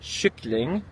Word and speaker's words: kyckling: The word for chicken, kylling, in Swedish is kyckling, spelled almost the same way, spelled with a K, but it has that sh sound.